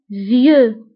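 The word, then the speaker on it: vieux: عجوز فيو, فيو. بالنسبه للفيو كنكتبوها باكس في اخر الكلمه لكنها لا تنطق. فيو.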